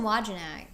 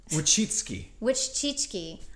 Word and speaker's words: Wojcicki: But so basically, in this podcast, though, they talked about YouTube has a very Susan Wojcicki, what's her name?